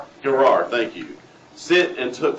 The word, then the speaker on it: Gerar: settled down in Kadesh, and Sir journeyed to Gerar," I don't know if that's right.